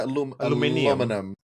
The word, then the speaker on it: aluminium: How do British say aluminum? They say aluminium.